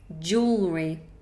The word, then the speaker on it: jewelry: are you guys saying could you pronounce jewelry jewelry two syllables jewelry okay I'm not wearing